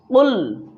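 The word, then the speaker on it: قُلْ: আমার সাথে বলুন কুল কুল। এখানে খুল যদি বলেন তাহলে ভুল হবে, এখানে বলতে হবে কুল। কফ লাম পেশ কুল।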